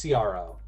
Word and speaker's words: CRO: It's just like SEO. It's CRO.